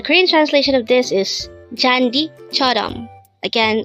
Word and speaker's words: 잔디: 345 chandi chandi this pronounces a two syllable word the first syllable is Jan second syllable is the pronounce it with me jandi Korean word jandi is simply the Korean